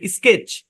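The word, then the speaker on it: sketch: উদাহরণ দিতে পারি যেমন এ এস কে ই টি সি এইচ এখানে টি টা সাইলেন্ট স্কেচ স্কেচ মানে কি নকশা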